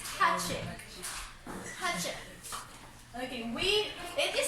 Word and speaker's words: Hachiko: Okay, there you They do not sound the O. So it's hachik.